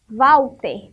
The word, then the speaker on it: Walter: Walter. Tem som de V na sílaba.